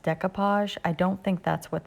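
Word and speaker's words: découpage: I don't think this is, I think it's pronounced decoupage.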